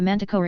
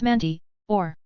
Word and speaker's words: manticore: I can't believe he included a manticore in the lesson plan. What's manti, or? Harry asked, Bewildered. Manticore, Ron said in a breath as he pronounced the correct name, referring to it afterward.